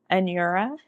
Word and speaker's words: Anura: get it wrong um it's a n a it's pronounced an your like an y Ur R and then the A anura and it is yeah not